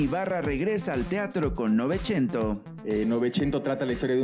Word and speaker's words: Novecento: Novecento, pero pues, no, en italiano se dice Novecento, ¿verdad?